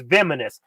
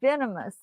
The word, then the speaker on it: venomous: know what's poisonous what's vinous so you say that wrong it's venomous not how you say